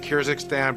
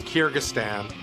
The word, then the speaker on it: Kyrgyzstan: Big debate, by the way, over the pronunciation, Kirzakstan, but I've since learned that it's pronounced Kyrgystan. And that's in Russia. Yeah. We got to Kyrgyzstan.